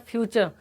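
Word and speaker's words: future: तो यहाँ चर वर्र नहीं पढ़ना फ्रेंड्स, यहाँ पर फ्यूचर। बताए थे कि प्रोनाउंसिएशन जो है इसी तरह से पढ़ा जाता है कि जब कोई आर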